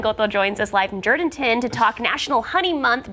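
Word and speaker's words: Jourdanton: I'm in Jordanton, Texas, or Jordanton. Jordanton, that's how the locals say it.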